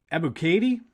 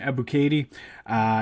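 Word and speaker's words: Ebiketie: Arnold Ebuke- Ebuketie, I think is how you say his name, Ebuketie.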